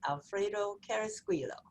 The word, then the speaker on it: Alfredo Carrasquillo: i'm laurie lawson and tonight my guest is alfredo carrasquillo i hope i did is that your is